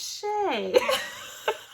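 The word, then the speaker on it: Shea: Shia. And then I was like, oh, it's Shay.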